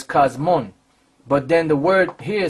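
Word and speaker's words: κόσμον: Because that's really the pronunciation of this one, I believe, is cosmon. Because this is a nu. A nu, right. So that's cosmon.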